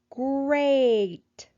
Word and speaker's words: great: Break, great, steak. What sound do you hear in these words? Break, great, steak. Yes, we hear the A sound in each one of those words.